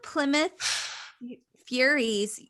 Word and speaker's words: Plymouth Furies: One of the Plymouth Furies, is that how it's pronounced?